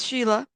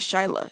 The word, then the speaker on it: Shyla: with Nancy Grace yes Sheila yes is it Shyla it's shyla's right I don't want to